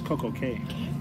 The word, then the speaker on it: Coco Cay: Oh, I thought it was Coco Key. They say it's Key, even though it's spelled C-A-Y. But then why do we say have a perfect day at Coco Cay?